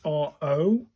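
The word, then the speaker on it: ろ: That symbol is RO, as in road. So it's a row. That's a row sound.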